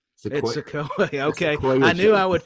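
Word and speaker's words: Sikoa: Hopefully, got that pronunciation correct. Yeah, it's Sequoia.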